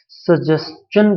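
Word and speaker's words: suggestion: देखो इसे शन मत पढ़ना, ये सजेशन नहीं है, STION च का साउंड देता है, सजेशन प्रोनाउंसिएशन है।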